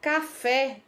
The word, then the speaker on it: café: Qual é a sílaba tônica? É a última sílaba, certo?